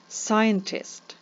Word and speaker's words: scientist: у слові сюди належать scientist scientist ви бачите що літера C не вимовляється Listen Listen літера T